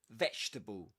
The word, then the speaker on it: vegetable: Three syllables, guys. Vegetable. vegetable. So the first parts you don't say veable or vegetable, you say vegetable, vegetable, vegetable.